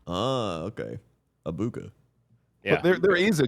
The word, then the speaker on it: Egbuka: And also his last name's pronounced Abuka. There's no G in it. Just Abuka. Okay. Abuka.